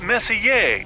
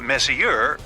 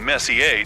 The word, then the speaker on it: Messier: stands for Messier pronounce Messier not Messier as in is your room messier than mine Charles Messier I mean Messi a to be precise was